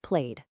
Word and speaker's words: played: For everything else, it's a soft duh sound like played.